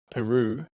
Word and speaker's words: Pieroux: I didn't ask if I was pronouncing your name right. I hope I didn't butcher your name. Pieroux, yeah, loads of people.